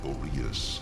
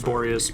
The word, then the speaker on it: Boreas: In earlier days, Oh, everyone pronounces that name differently. I always thought it was Boreas myself.